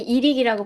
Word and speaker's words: EIRIC: 이렇게 인터뷰 자리 만들어 주신 아이릭이라고 읽어야 되나요? 저희 이릭이라고 보통 이릭? 읽습니다.